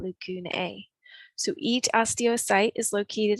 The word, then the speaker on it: lacunae: If you are talking about the plural form of the word, we use the AE ending and we would pronounce that lacunae.